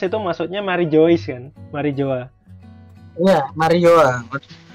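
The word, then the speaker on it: Mary Geoise: Mary Joa. Iya, Mary Joa. Mary Joyce. Tulisannya Mary Joyce, Mas. Iya, tapi membacanya Mary Joa. Nah, tetap Mary Joa.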